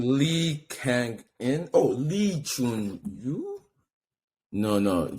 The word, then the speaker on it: Kang-in: Yeah, he's Lee Kang-in, bro.